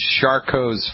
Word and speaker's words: Charcot: But when this gets really bad, the condition, my father had this really bad, the condition is called Charcot's foot. You spell that, it's a French word, C-H-A-R-C-O-T like Thomas, apostrophe S.